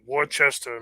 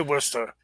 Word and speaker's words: Worcester: was born in uh how everyone outside of Worcester calls it Worchester Massachusetts they don't they don't say it likely to you know they say a difference yeah we say Worcester but a lot of people say War Chester oh interesting yeah but